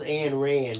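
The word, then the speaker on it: Ayn Rand: Eileen Moore is saying, Bill, who is Anne Rand? It's spelled like A-Y-N for Anne, A-Y-N, and Rand, R-A-N-D.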